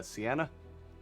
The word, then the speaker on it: Sienna: tending to everything is sorry if I'm getting this wrong, Sienna? Yes, that is how you pronounce it.